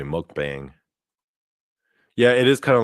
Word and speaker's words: mukbang: Yeah, it's pronounced mukbang, by the way. People say mukbang.